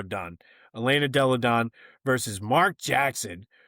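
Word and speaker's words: Donne: I I've heard it pronounced both ways. Don or Dunn. Uh we're going to go Dunn.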